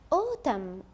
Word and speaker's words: autumn: It's autumn. Autumn. لاحظ معي عزيزي الطالب أن حرف N هنا صامت، وبالتالي هو يكتب ولا يلفظ.